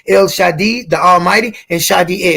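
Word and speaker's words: Shaddai: so in the video they tell you that it's pronounced Shadi not just a but it's pronounced like with an e on the end so that's the same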